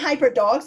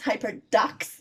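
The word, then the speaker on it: HyperDocs: always pronounce that wrong it's not hyper dogs like what well no no it's hyper ducks like do see I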